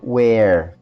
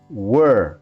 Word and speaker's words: were: Cuidado com a pronúncia de were, eh, não é where, as pessoas tendem a fazer confusão com a pronúncia. É were, não é where, ok?